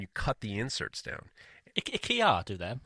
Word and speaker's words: IKEA: IKEA do them. IKEA.